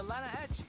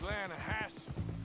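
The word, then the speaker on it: Lannahechee: The Lanahatchee. It runs right near here. Yeah, but it's pronounced Lanahassee.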